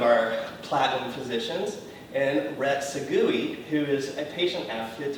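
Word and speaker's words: Sagui: I think that's Rhett Sawi. No, it's not. It is. Can you spell that? It's S as in Sam, A-G-U-I, like Maui. Yeah. And Sawi. That sounds like Segui.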